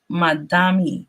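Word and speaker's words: Mamdani: The name is Madami, he said a sharply on Thursday after Cuomo mispronounced it.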